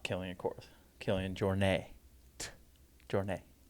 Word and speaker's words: Jornet: He says it all like sounds French, even though he's from Spain. So he says Jornet. Killian Jornet. like croissant.